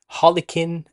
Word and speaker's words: Harlequin: It's pronounced Harlequin or Helikins prior to that.